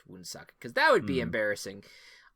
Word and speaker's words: Woonsocket: Yeah, it looks like I am correct in that it is pronounced Woonsocket, because that would be embarrassing.